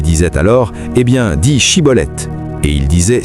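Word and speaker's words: Schibboleth: Les Éphraémites ne pouvaient pas prononcer le son de Chine dans Shibolet disant plutôt cibolette.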